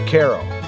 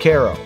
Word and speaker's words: Cairo: along the trail is Cairo yeah that's how they say it Cairo it has a classic